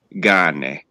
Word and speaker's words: cane: Like in Italian, it's how you say dog is cane. But the way I was always taught when I was a kid, it's gane.